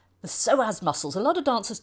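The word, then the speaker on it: psoas: picture we see the soaz it's kind of a funny name because it begins with a p but the p is silent the soaz muscles a lot of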